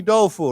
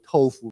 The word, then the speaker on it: tofu: tried stinky tofu so or tofu in America they say tofu because it's spelled with a t but yeah tofu so stink or stinky